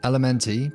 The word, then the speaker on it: LMNT: itch with today's sponsor that is element elementy pronounced element make these powdered little